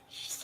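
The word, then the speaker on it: sidhe: closer you make out the live forms of she warriors and for the record that's how you pronounce the s-i-d-a-g which means fae or fairies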